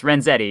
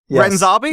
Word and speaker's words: Renzetti: It's Renzetti, yeah, pronunciation wise. oh yeah, Renzetti, yeah, Renzetti, yes. Renzabi? No, you're right. Italian name. No, not Renzabi. That's a very special pronunciation of my name. Yeah. Normally I go by Renzetti.